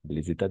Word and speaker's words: les états: Les états d'esprit. Los estados de ánimo. Et attention, parce qu'ici, on va faire la liaison, n'est-ce pas? Les états d'esprit.